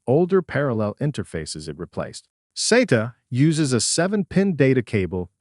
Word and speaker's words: SATA: Under Exam Objective 3.2, the current version of the A plus Core 1 exam focuses specifically on SATA and eSATA.